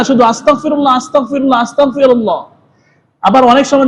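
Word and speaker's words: أستغفر الله: আছে যেগুললা ইস্তেগফার ইস্তেগফারের অর্থ এটা না শুধু আস্তাগফিরুল্লাহ আস্তাগফিরুল্লাহ আস্তাগফিরুল্লাহ আবার অনেক সময় দেখা যায় আস্তাগফিরুল্লাহ আস্তাগফিরুল্লাহ পড়তে পড়তে এরকম উচ্চারণ করে ফেলিন হয়ে যায় কাফ আস্তাগফিরুল্লাহ আস্তাগফিরুল্লাহ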